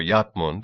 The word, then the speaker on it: Edmund: it was that their King Edmund most of the customers agreed or yund as they pronounced it and the only